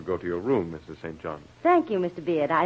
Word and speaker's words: St John: the disciples then urban st john or sinjin as the british pronounce it i never thought of